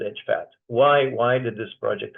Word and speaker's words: EJFAT: Pat and it is even though the acronym is EJ fat we pronounce it as Edge fat why why did this